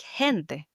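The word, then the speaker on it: gente: the hard g sound versus a word like hente the word for people which has this soft g sound the he that's right and finally to end the conversation.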